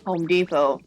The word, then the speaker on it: Home Depot: loud because even though I know that you pronounce Home Depot Home Depot. Did you say Did you say the out? Yeah, I was I was reading it out with the T.